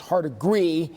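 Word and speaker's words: Hardegree: quarterback's coach position now I believe it's pronounced hard agree he has served as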